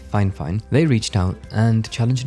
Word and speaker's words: Fifine: quite significantly now however this company fine fine even though it's spelled f fine they've insisted it's fine fine they reached out and